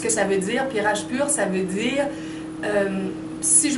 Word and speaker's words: Rajpur: Je ne sais pas comment on le prononce, excusez-moi, mais en français, c'est Rajpur, R-A-J-P-U-R.